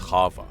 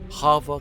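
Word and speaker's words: חַוָּה: name Eve we found that Eve is actually pronounced Hava sounding somewhat like Hava Hava can mean either breath as in the Breath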